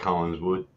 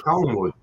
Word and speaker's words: Collingwood: I like Collinswood. Come on now. You can't even See what- say it right, mate. A Oh, mean- shut up. It's not Collingswood. Yeah, no, it's Collingwood.